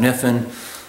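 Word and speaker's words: Kniffin: That's why my name is Niffin. Um, yeah, it's spelled funny. You just dropped the K. That's about how it works.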